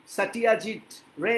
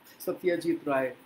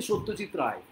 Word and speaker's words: সত্যজিৎ রায়: তাহলে গল্পটা শুরু করছি আর আমি ওই সাটিয়াজিত রে এরকম ভাবে আমি বলবো না ওটা ওদের উচ্চারণ আমি ওরকমভাবে বলবো না যারা বাংলা জানে না তারা ঐভাবে উচ্চারণ করে সত্যিজিত রায় যারা হিন্দি ভাষী তারা হয়তো বলবে সত্যিজিত রায় অসুবিধা কি আছে তারা ওইভাবেই বলে আমরা বলি সত্যজিৎ রায় আজকে কালকে ছিল মে